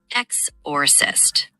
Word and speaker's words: exorcist: The stress is on the first syllable. It's exorcist with the emphasis on the X.